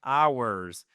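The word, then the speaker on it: hours: Attention, le H ne se prononce pas. C'est une des très rares exceptions en anglais ou un mot commençant par le H ne voit pas ce H prononcé. Donc c'est ours, exactement comme le mot les nôtres, ours.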